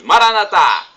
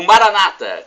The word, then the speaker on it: Maranata: Aramaico para o português Maranata como dizemos nós católicos com a tônica na última sílaba o Maranata com a tônica na penúltima sílaba como dizem nossos irmãos separados os evangélicos ou protestantes não importa pronúncia somos